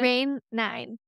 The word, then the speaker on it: Rain IX: Is it Rain IX? Is that how you pronounce it? Rain 9. Rain 9. Roman numerals, baby.